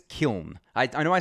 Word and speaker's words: Kiln: wrong and yeah okay it said kyon so kiln the next iteration of the ethereum merch testnet